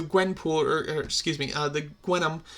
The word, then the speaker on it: Gwenom: And then the Gwenpool, or excuse me, the Gwenom, Gwenom is how it's pronounced, when she's like Gwen and Venom.